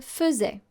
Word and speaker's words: faisait: Now the particularity of the verb faire in imparfait is that the AI that you see here, fait, is not pronounced fait, it's pronounced fe.